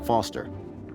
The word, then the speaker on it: Foster: pickle so it does i'm foster i'll remember that easy because your name rhymes with fossil and you're old thanks